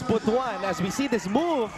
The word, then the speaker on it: Butuan: Actually, it was Sir Mark Zambrano who was reminding us the other day to pronounce it as Butuan, as we see this move by Chong free throw.